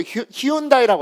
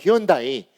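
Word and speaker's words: Hyundai: 현대자동차도 예전에 잘 팔게 하려고 히온다이라고 한 거. 히온다이.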